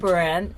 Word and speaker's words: Behrendt: Greg Behrendt. Behrendt, just say it in American accent. He's got one of those names you have to have an American accent to pronounce, don't you?